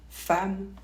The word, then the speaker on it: femme: devant la lettre M cela dit on prononce pas toujours en quand c'est suivi par un deuxième m par exemple le mot femme ou mental ou le prénom Emmanuel encore on ne prononce pas en donc pas toujours exemple avec